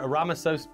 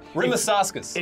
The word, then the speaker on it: Rimašauskas: Now, uh, okay, to be clear, Ramasos, Ramasos, it's great to... Rimasauskas.